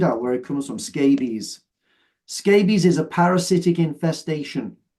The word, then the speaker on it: scabies: Scabies. So it's not pronounced the same way. It's not related to a scab. Scab and scabies are different. So scabies is pronounced like rabies.